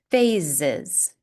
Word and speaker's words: phases: Another example of this is phases. Here we have two S's, but they sound like Z's.